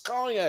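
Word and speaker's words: cognac: real and she's like it's it's conac and he's like Shannon's like yes it's conac you know it's conac yes the way you pronounce it it's conac I wasn't gonna say nothing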